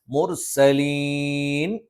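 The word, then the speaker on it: الْمُرْسَلِين: മുർസലീൻ ഇവിടെ എന്താണ്? മദ് ആരിളാണ്. എന്ത് ചെയ്യണം? മുർസലീൻ എന്ന് നീട്ടേണ്ടതുണ്ട്.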